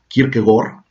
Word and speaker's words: Kierkegaard: padre de kierkegaard bueno que en danés cada decir la nota erudita que quiere pegar se pronuncia quiero que gol no suele decir que